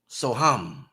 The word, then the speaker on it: Soham: How do you spell that, Doc? That Sanskrit word. S-O. S-O. And then ham, H-A-M. Soham.